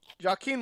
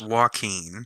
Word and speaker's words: Joaquin: escobar royal mendoza and jaquin wilde i can never always pronounce that right uh nick who are you picking in this one there we go i think it's joaquin joaquin gotcha yeah like phoenix um i uh